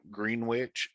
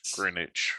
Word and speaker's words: Greenwich: the dragon specifically um you don't pronounce the w in green green witch it's greenwich greenwich i was born